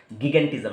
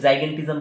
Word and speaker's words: gigantism: ठीक है, जाइगेंटिज्म ऐसे भी कोई कोई लोग प्रोनाउंस करते हैं या कोई लोग गिगेंटिज्म ऐसे भी प्रोनाउंस करते हैं। तो जाइगेंटिज्म बोलना मोस्ट सुइटेबल रहेगा क्योंकि जाइंट, जाइगेंटिज्म कहाँ से आया? जाइंट, जाइंट से आया।